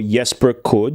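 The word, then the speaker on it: Jesper Kyd: And then I'm going to tell you about Jesper Kid, or Jesper Kud, if you want to pronounce it properly.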